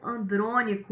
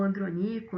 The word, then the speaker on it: Andrônico: Um nome de destaque aqui é o de Lívio Andrônico, ou Andronico, né? Existem essas duas pronúncias, que é o primeiro